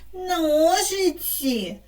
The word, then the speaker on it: ножиці: на моєму білеті зображені ножиці в цьому слові наголос падає на перший склад тому я сяду в